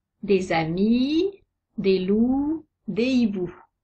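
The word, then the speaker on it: hiboux: amis des loups des hibou notez que hibou a deux lettres muettes le h et le X les verbes à la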